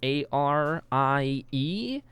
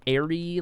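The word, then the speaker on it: Arie: IRL name, which is A-R-I-E. You can say it airy like airy plane, or you could say Ari like a pirate.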